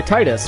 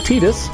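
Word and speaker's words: Tidus: they're trained to make so we say Titus because teetus sounds dumb in English just us I will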